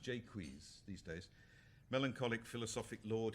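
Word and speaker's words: Jaques: in this play the he's usually pronounced jqu but Shakespeare's time probably Jakes um it even appears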